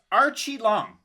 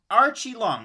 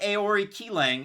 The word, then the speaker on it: Aoriqileng: yep you got it so it's archie long archie long not ayori ki lang it's r chi long if you're going to with the pronunciation and he's coming out